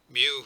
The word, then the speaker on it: mu: Mu, pronounced as it's spelled there, MEW, is the mean of a population as opposed to x bar, which is the mean of a sample.